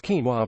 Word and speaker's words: quinoa: Quinoa, pronounced quinoa, is one of nature's superfoods and a busy cook stream.